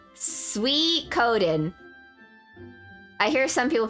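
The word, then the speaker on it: Suikoden: time I learned okay it's a Japanese word it's hard to describe it's Sue e Coden is that right I pronounce it as sweet cold then I agree with lamo chips minus the L sweet Coden I hear some people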